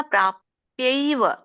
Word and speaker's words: ಪ್ರಾಪ್ಯೈವ: ಅನ್ಸುತ್ತೆ ಅಲ್ಲಿ ಮಾಮ ಪ್ರಾಪ್ಯೈವ ಪ್ರಾಪ್ಯೈವ ನೋಡಿ ಪೈವ ಪೆವ ಪೈಯ ಬರುತ್ತೆ ಪೈವ ಯ ಬಂದು ಐ ಬರುತ್ತೆ ಉಚ್ಚರಣೆ ನೋಡಿ ಮಾಮ ಪ್ರಾಪ್ಯೈವ ಕೌಂತೇಯ ತತೋಯಾಂತ್ಯಧಮಾಂ ಗತಿಂ ಅಲ್ಲಿ ಮಾಮ ಪ್ರಾಪ್ಯವ ಏನಿದೆಯಲ್ಲ ಅದನ್ನ ಬಿಡಿಸಿದಾಗ ಮಾಮ ಅಪ್ರಾಪ್ಯ ಏವ ಅಂತ ಬರುತ್ತೆ ಮಾಮ ಅಪ್ರಾಪ್ಯ ಯ ಏವ ಮಾ ಪ್ರಾಪ್ಯೆವ ಏ ಆಮೇಲೆ ಕೇಳಿಸಬೇಕು ಯ ಮೊದಲು ಕೇಳಿಸಬೇಕು ಮಾಮ ಪ್ರಾಪ್ಯೆವ ಕೌಂತೆಯ ತತೋ